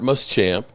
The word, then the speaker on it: Muschamp: Uh coaches, the Cowboys are hiring, uh Chargers defensive quality control coach, Robert Muschamp. Uh sources, Huh? Did I mispronounce it?